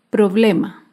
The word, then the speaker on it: problema: Otro ejemplo de palabra grave sin tilde es la palabra problema. Problema se acentúa en la penúltima sílaba, pero no lleva tilde porque termina en vocal.